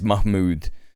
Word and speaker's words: Mahmood: I think that they were actually trying to pronounce it correctly cuz it is Mahmood. That is how you you pronounce it.